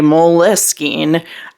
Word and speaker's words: Moleskine: to pronounce it, and according to the Italian company, there's no correct way to pronounce it, although the CEO of the company has been known to say Moleskine, but they like to let people pronounce it their own way.